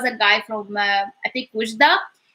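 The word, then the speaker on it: وجدة: Wujda, Wujda, W. So the W sound, Wujda.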